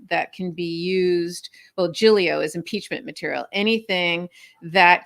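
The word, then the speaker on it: Giglio: what Brady material is jig jigli or jilo material different people pronounce it differently uh is and Janks material is impeachment material anything that that can be used well gilio is impeachment material anything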